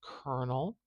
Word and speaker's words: colonel: there is our transcription into the IPA of Kernel just like this viewer did if you have